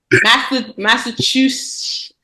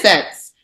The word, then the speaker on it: Massachusetts: Massachusetts. Massachusetts. Massachusetts. It is sets. SETTS. Massachusetts. That's weird.